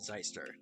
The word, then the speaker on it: Zeister: I want I'm not pronouncing this as a sister. It's Zeister. It It is Zeister and will always be Zeister.